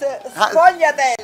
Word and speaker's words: sfogliatelle: people, you always hear they pronounce it two different ways, sfogliatelle or sfogliatelle. It's sfogliatelle, specialty of Naples.